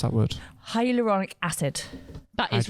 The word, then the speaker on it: hyaluronic: How do you pronounce that word? Hyaluronic acid.